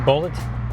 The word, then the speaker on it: Bullitt: Not spelled like bullet from a gun, but rather b u l l i t t bullet as in the movie.